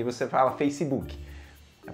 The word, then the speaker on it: Facebook: E você fala Facebook. A pronúncia correta é Facebook.